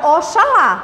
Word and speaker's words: Oxalá: Em que o X ainda faz o som de CH. Preste atenção. A gente tem a palavra Oxalá, mas eu sei que